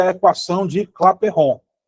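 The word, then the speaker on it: Clapeyron: Essa aqui é a equação de Claperron. Não é clapeiron não, você claperron. Ele é francês. Respeita o rapaz. Você quer dizer um francês? Pronuncia o nome dele com sutaque inglês.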